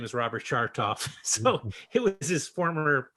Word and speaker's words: Chartoff: time ago, but I was able to tell Irwin that my dad would occasionally be mistaken for the other Robert Chartoff, Oh, but although we pronounce it Chartoff with a soft right, right.